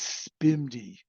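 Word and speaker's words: SPMD: program multiple data which which gets pronounced as spimi yeah we have to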